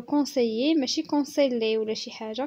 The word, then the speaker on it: conseillers: ال هنا ميي ما كيتنطقوش، كنقولوا conseiller ماشي conseiller ولا شي حاجه، كنقولوا conseiller.